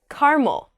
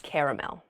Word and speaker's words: caramel: candy is caramel uh just depends on where you're from apparently in the East the East Coast they say caramel on the West Coast it seems we say caramel that sounds